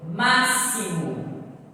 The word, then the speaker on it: máximo: Máximo. É escrito com X, mas na pronúncia é totalmente diferente.